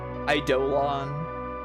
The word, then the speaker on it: Eidolon: Eidolon.